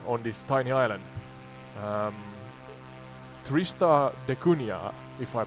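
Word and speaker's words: Tristan da Cunha: please k your spot on oud and your pronunciation isn't far off it's Tristan dun but you're nailing the spirit of it so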